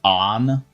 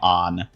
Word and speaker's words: Anne: Isn't it like pronounced on in game for that character? Always hear people pronounce her name on, but it's spelled like Anne.